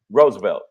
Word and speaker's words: Roosevelt: Roosevelt, my fault. Hey man, first off, Mr. Correct me. The second O is silent.